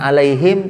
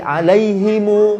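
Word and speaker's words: عليهمُ: nubi alaihim walaa borgol i-itu riwayat kolun bukan alaihim tapi alaihimu Chairil makmum ubi alaihimu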